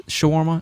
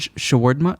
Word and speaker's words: shawarma: So when you said shawarma, shawarma, it's like word. It's like shawarma. Shawarma. Yeah. So the R takes like a duh noise.